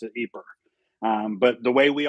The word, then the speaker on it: Ieper: and the way they pronounce it is it's ieper it's pronounced deeper yeah so that's how that's how the natives who live there pronounce it aper um but the way we always see it